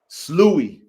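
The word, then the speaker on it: Sloughi: And you said they pronounce it sloogie? Louis. Slooey.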